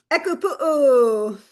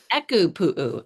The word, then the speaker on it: ʻEkūpū: And while you do that, will you help me with the pronunciation? Echo pu. Echo pu.